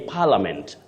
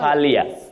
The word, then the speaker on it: parliament: Felix Mutinda, you say parliament, not palia. Yeah, Felix Mutinda, you say parliament, not parliament. Just like you say friend, not friend. That I is silent.